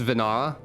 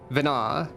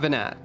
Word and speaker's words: Venat: It's pronounced Vina. Fair enough. Vina. Not Venat. Not Venonat.